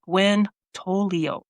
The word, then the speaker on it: Gwen Tolios: Tonight we are joined by Gwen Tolio. And as all my listeners know, I suck on pronunciation, so I hope I did a good job.